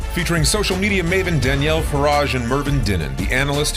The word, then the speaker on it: Farage: Z I am Danielle farage like garage with an F in case you forgot